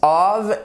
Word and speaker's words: of: Dans cette vidéo, nous allons apprendre à bien faire la distinction entre la préposition of, donc vous voyez que ça se prononce of, et off.